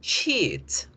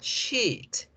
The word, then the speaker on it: sheet: Las hojas de papel se dicen sheet. Con la I larga. Sheet. Sheet.